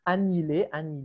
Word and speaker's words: annihilé: Oui, annihilé, le H ne se prononce jamais, hein. Annihilé.